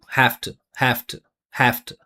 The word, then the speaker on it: have to: Listen to this. I'm not making any vibration here. This word we always pronounce it like this. Well, I guess we'll move this over here. We always pronounce it with F. There's no rule for this. It's just what we do.